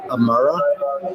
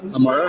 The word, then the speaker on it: Imarah: Amara. Amara.